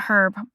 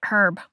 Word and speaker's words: herb: Unfortunately, I hate that we pronounce an herb and not herb. I'm with the other countries that say herb. It's herb. Not herb. It's herb.